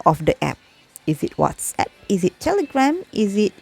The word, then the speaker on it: WhatsApp: that people say is what's up which is wrong it is not what's up it is what's app okay so i hope starting from today you can correct the way you say out you pronounce that abs okay it is whatsapp not wassup okay so that is